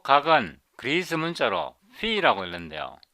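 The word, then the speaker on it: φ: 요 각은 그리스 문자로 phi라고 읽는데요.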